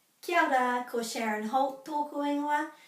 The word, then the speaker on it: kia ora: You will know it from kia ora, which is often pronounced kia ora, joining those two together. You might also know it from kia kaha. So this is kia ora, be well, kia kaha, be strong.